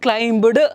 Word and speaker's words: climb: So it's climb, climbed, climbed anta bandru climbed, no, that's wrong. So it is climb. Okay, so B has to be silent there. So climbing, climbing the stairs, climbing down the stairs.